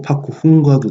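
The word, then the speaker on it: Pakhtunkhwa: 지금 현재도 그 아프가니스탄 남부하고 파키스탄 지역에 사는 파슈툰족이 가장 큰 민족인데, 이 파쿠툰가, 여기는 근데 H 발음이 있습니다. 파쿠툰가도 될 수 있고 파쿠훈가도 될 수 있습니다.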